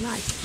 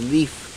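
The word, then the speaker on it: Leif: what was this man life l e i f life life yeah I often hear that name being pronounced as Leaf that's the Swedish pronunciation of that's right Leaf yeah and Norwegian too maybe the hero is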